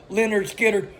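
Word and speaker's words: Lynyrd Skynyrd: it was of course Leonard Skinner recorded on their debut album pronounced Leonard Skinner another fun fact for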